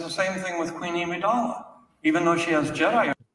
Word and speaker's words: Amidala: And it's the same thing with Queen Amidala. Even though she has Jedi He just pronounced his own character's name wrong. Immediately. Imidala.